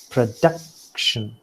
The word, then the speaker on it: production: And out of that, see, you have, for example, the first word, production. So production are the three, syllables, and duck stands out, and that is why it is accented.